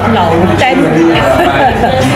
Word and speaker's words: 楼顶: ，这家叫楼顶啊，他们这个发音是按照潮州人的发音叫做老丹，所以呢